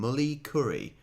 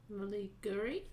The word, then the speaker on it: Mulliguri: Local Aboriginal people call them mully curry, pronounced the K to a G sound. Mulliguri? Mulliguri. Mulliguri, not mully curry.